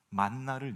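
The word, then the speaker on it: מן: 뭐가 있겠습니까 하나님께서 하늘에서 만나를 내리십니다 여러분 좀 재밌는게 있다면 만나 만나 뭐 이렇게 영어도 만나죠 우리가 표현하는 것도 우리가 이제 발음하는 것도 만난데 이게 원어는 만입니다 만 근데이 만이라는 단어가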